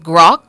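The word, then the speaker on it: grok: gr r o okay grock grock grock your word of the day pronounced Gro it's a verb and it means to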